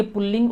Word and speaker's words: पुल्लिंग: स्त्रीलिंग एक बात और बहुत सारे लोग इसका उच्चारण पूर्व लिंग करते हैं जो कि शुद्ध है भाषा के विद्यार्थियों के नाते आप यह ध्यान रखें कि पूर्व लिंग कहीं भी नहीं है रेखा उच्चारण जब है ही नहीं तो क्यों किया जाए इसलिए पुलिंग है यह और दूसरा है